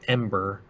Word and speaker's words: EM8ER: He has his hot game with fucking kaiju and mecha and shit like that, called EM8ER, or it's pronounced Ember.